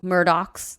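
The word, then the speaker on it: Murdaugh: I feel like between the muros or murdocks that's how they pronounce it which we did an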